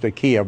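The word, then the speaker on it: Kyiv: take keeve i mean last week i pronounced ikea but that's the russian way i'm going back to ukrainian way which is key the capital that's the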